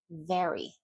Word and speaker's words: very: If you're going to do a V sound, your mouth is quite wide. Your top teeth touch your bottom lip. Very, very.